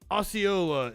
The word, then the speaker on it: Osceola: It's not Ocala. Osceola. Where's it at? As long as we're learning shit, let's find out where it's at in fucking Florida. In the middle of the fucking state. Osceola sheriff.